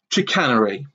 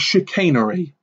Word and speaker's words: Chicanery: just by the way he constantly calls this character chicanery the guy's name is shakin re and it grated on my nerves like nobody's business so he could not pronounce chicanery yeah in the very